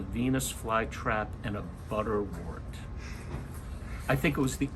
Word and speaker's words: butterwort: who played the part he actually mispronounced it he called it butterworth anyway it was quite